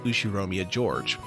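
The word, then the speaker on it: Ushiromiya George: his name is spelled like this and it's pronounced ushiromia george he's five years older than me so he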